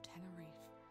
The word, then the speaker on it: Tenerife: So you depart on a ship to the island of Tenerife to gather more information. Oh, that's how you pronounce that, is that?